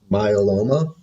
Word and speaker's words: myeloma: Did you guess myeloma?